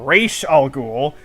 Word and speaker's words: Ra's al Ghul: because in this movie they say his name is Ra's al Ghul and like that's how his name is spelled but everything else I've seen they call him rash al Ghul even though it's spelled the same so I